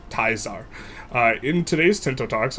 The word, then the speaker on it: Caesar: name project Caesar or some people like to pronounce it or some people think it's a teaser so they call it project teaser and people who know how to really pronounce it call it project taizar.